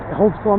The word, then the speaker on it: Holdsclaw: Holdsclaw, Mr.